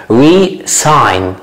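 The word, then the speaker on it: re-sign: لكن الثانية resign. الاس هنا بتتنطق زي ما هي.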